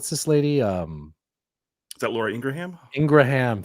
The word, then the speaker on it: Ingraham: um is that Laura Ingraham Ingraham thank you for saying it right I was like I know it's not the way people say it people say Laura Ingram yes yeah it's Ingraham so she does stunts